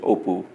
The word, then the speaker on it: Appu: which this little boy Appu which if you pronounce him correctly in Bengali is Oh poo in the way that